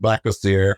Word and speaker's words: Black Azar: And then my poet pen name is Black Azar. Pronounced Black Azar, however, it just means black God.